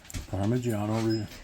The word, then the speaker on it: Parmigiano: Parmigiano.